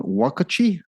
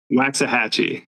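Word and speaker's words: Waxahatchee: Um, Mountain Goats is I can't even pronounce this one. Wakuchi is that national the national vampire week. Say it again. Waxahhatchee.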